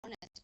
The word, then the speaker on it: honest: H is a consonant in words like our honor and honest the letter H is silent so we use the